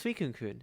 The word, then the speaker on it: suikunkun: It's suikunkun. It's like the Pokemon Suicune, and then kun, like in anime.